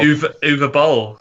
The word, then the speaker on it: Uwe Boll: Uwe Boll. Uwe Boll. Is that how you say his name? Uwe I think Boll. so. The W is a V, I think.